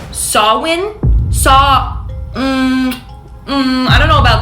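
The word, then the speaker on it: Samhain: because it's literally spelled Sam ha but it's pronounced sawin saw I don't know about that babes but anyway Colonel Colonial anyways English sawin is a Celtic Festival that was celebrated in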